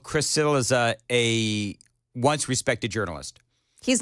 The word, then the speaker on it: Cillizza: But what I also did was I called Chris Cillizza a once respected journalist.